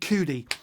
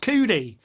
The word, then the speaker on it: Cudi: be writing uh can't believe he said kid cootie well c-u-d-i and is is pronounced coodie it is coodie and like like and like